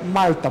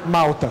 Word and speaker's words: malta: sei se vocês perceberam, eu sempre pronuncio o L como L e não como U. Essa é a pronúncia correta do Quenya. Se você tiver um L sem uma vogal, ele tem um som um pouco diferente. É Malta, por exemplo, não Malta, como a gente está acostumado a falar.